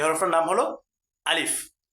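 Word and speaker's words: ألف: দেখেন লক্ষ করেন আলিফ। এ হরফটির নাম কি বলেন? আলিফ। এ হরফ নাম হল আলিফ। এ আলিফে কোন টান দেওয়া যাবে না।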